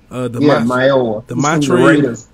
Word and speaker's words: Mayowa: Vincent Mayowa. Is that how you say it? Yeah. Mayowa.